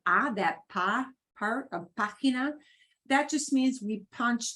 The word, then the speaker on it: página: Ah always sounds like ah, that pa part of página. That just means we punch that syllable more than the other two, right? It's not página or página, it's página.